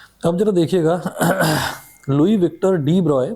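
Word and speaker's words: de Broglie: जरा देखिएगा Louis Victor डी ब्रॉय pronounced as डीब्रॉय put forward the bold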